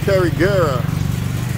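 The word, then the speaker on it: Carigara: Carriguera, that's how you say it.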